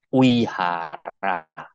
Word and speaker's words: Vihara: Sekedar untuk mengingatkan, perkuliahan minggu yang lalu, setiap V itu dibaca W ya. Jadi tulisannya Vinaya, bacanya Winaya. Tulisannya seperti Vihara, yang benar bacanya Wihara. Bodhisattva tulisannya, bacanya Bodhisatwa.